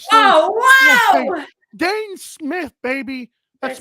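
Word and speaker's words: Dhane: Buffalo oh oh whoa I know right now Dane Smith baby that's spelled d-h-a-n-e like the dog stepped up for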